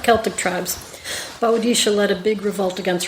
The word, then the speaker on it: Boadicea: Yes, I named my boat Boadicea. Boadicea.